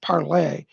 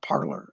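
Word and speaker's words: parler: is actually spelled p-a-r-l-e-r it's actually french it should be pronounced parlay but they the english they call it parlor okay um second bob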